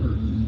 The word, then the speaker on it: Hurst: Pronounced Hurst.